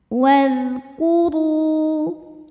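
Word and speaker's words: وَاذْكُرُوا: Wadhkuru. Ru matobi'i dhahiri karena ada waw sukun didahului baris dhammah, maka dibacanya panjang 2 harokat.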